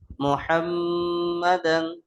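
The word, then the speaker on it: مُحَمَّدًا: ওয়াশহাদু আন্না ওয়াশহাদু আন্না মুহাম্মাদান। আচ্ছা, এখানে মিমের উপর তাসদীদ, গুণনা করা ওয়াজিব, গুণনা করবেন। মুহাম্মাদান আবদুহু ওয়া রাসূলুহু।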